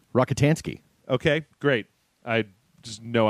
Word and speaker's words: Rockatansky: Rockatansky.